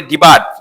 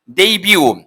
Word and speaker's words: debut: আচ্ছা, তারপর হচ্ছে আমরা বলি ডিবার্ট, নট ডিবার্ট। এটা হচ্ছে ডেইবিউ, ডেইবিউ, ডেইবিউ তো অভিষেক। হ্যাঁ, উচ্চারণটা দেখো, একটু খেয়াল করো। ডিবার্ট যদি আমরা উচ্চারণ ডিবার্ট বলি, কিন্তু না, এটা এই টিটা সাইলেন্ট থাকবে এখানে।